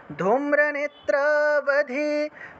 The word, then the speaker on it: ধূম্রনেত্রাবধে: ধূম্রনেত্রাবধে দেবী, ধূম্রনেত্রাবধে দেবী, ধর্ম কামার্থদায়িনী, রূপম দেহি জয়ম দেহি, यशो देहि द्वेषो जहि ধূম্রনেত্রাবধে বধে व যেখানে ব পাবেন সেই জায়গাতেই ওয়া হিসেবে উচ্চারণ হবে ধূম্রনেত্রাবধে দেবী ধর্ম কামার্থদায়িনী রূপম দেহি জয়ম দেহি যশো দেহি দ্বিষো জহি।